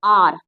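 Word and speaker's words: hour: ठीक है, 1 घंटे पहले मुझे मिला, आर, again H is silent, तो आर, तो आ की आवाज आ रही है, तो एन आर अगो।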